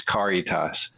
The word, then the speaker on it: Caritas: And uh I guess there's also maybe a Spanish pronunciation of it, but we go by the Latin pronunciation, which is Caritas.